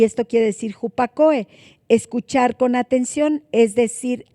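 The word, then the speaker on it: ὑπακοή: Pero bueno, la palabra obediencia es la palabra hupakoe con K también y acento en la E, que quiere decir escuchar con atención.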